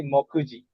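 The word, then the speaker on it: 目次: Ya, bacanya jadi mokuji. ですね。 moku sama ji.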